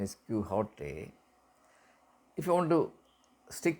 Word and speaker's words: Quixote: If you want, the Spanish pronunciation is Quixote. If you want to stick to the English pronunciation, it is Quixote. Quixote. But in the literary context, we use the Spanish pronunciation rather than the English pronunciation.